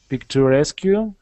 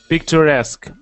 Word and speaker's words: picturesque: taste and this gave the houses a very picture rescue how to pronounce picturesque picturesque look now how houses um if you s